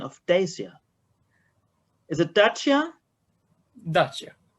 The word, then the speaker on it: Dacia: How is the correct pronunciation of Dacia? Is it Dacia? Dacia. Dacia is right?